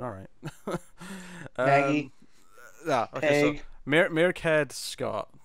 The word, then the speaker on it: Mairghread: Mairghread is the Gaelic pronunciation, the original the pronunciation of that name. Mairghread. However, right. She has tweeted in the past that she goes by the Americanized saying of it, which is just Mairghread. Mairghread. Yes. Yeah, rhymes with air. So Mairghread. Yes.